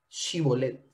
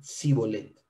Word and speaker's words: Shibolet: No, entonces le decían, ahora pues di Shibolet. Y él decía Sibolet, porque no podían pronunciarlo correctamente.